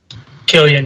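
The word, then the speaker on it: Cillian: do you say it Tom Killian Killian Murphy Killian yes Killian kilan it's a hard I would he's such I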